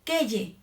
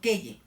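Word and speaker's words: quelle: que el que él casi todo se pronuncian igual porque no pero se escriben diferente ahí les va cuando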